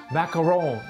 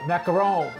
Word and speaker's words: macaron: we're going to be doing some authentic macaroons not the macaroons but macarons and this is the French way of making it and